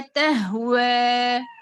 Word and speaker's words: تهوى: जब खड़ा जबर के बाद या आती साइलेंट या जिसके ऊपर कोई अलामत नहीं है, वहां हम खड़ा जबर को दो हरकत में खींच कर ही पढ़ते, सुकून ने बनाते इसको। ओके, ला तहवा, لا تهوى تهوى رسول